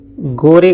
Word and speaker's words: gore: तो फ्रेंड्स, 2 देशांतर रेखाओं के बीच की दूरी को गोरे कहा जाता है, गोरे या गोर, जो आप प्रोनाउंसिएशन इसका करते हो, GORE।